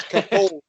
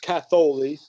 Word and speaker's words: Catholi: Well, my real last name is kind of hard to pronounce, and everybody gets it wrong. It's Catholi. It's pronounced Catholi, and it's actually a shortened Greek name.